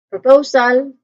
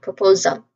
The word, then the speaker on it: proposal: So in on the syllable stressed here in the stressed syllable here there's a dip thong sound. Oo. So you make sure to remember that proposal.